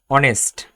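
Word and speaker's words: honest: যে সকল ক্ষেত্রে এইচ এর উচ্চারণ হয় না, এর পরবর্তী অক্ষরের উচ্চারণ হয়, এমন ক্ষেত্রে অ্যান বসে। যেমন অনেস্ট, আওয়ার, অনারেবল, হিয়ার।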